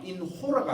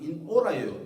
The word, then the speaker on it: in hora: 오게티가 인호라가 아니고 인오라예요.